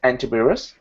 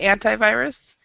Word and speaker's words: antivirus: don't have any anti antivirus is that how they're pronouncing yeah yeah well there's two ways to say it american english we say antivirus and then anti virus okay anti various um